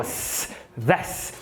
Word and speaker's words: this: Toda vez que você tiver a palavra this, a pronúncia dela é com S, então ó, this weekend, com S mesmo, ó, this.